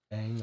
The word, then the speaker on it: Ng: Will NG, the secured Will Ing, we're told, is the right way to pronounce it. Eng or Ing.